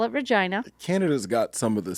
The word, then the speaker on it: Regina: We went to Saskatchewan, to Regina, Saskatchewan, where my mother lives now. They got it. Yeah, they could call it Regina. It's spelled the same. They go out of their way to call it Regina.